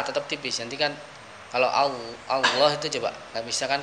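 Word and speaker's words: الله: Ketika dia lafzul jalalah Allah sebut di lamnya menjadi tebal ya.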